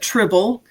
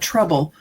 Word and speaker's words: Trible: Uh, well, some people call it tribble and then there's other people that call it trouble. So, it's trible.